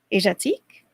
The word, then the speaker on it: Asiatique: looked it up yeah everyone else pronounced it Asia like Asiatique Asia teak I have no idea